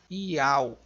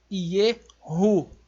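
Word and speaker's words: יהוא: Ela tem um som do H do hebraico, é uma gutural, que ela vai ter este som aí. Então é Yehu, não Ial.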